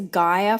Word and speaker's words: Gaia: you for being here my name is guia for pronunciation purposes G I a but my name is